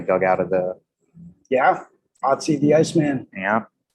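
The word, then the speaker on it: Ötzi: Otzi the Iceman. yeah, Or Utsi, I think. Yeah, is Utsi, actually yeah. how it's pronounced.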